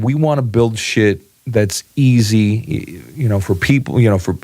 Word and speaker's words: Schiit: It's spelled SCHIIT. It's shit. It's pronounced shit audio.